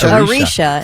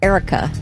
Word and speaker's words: Erica: cuz it's not right you said it was Arisha and it's Erica that's the way it's spelled so the only difference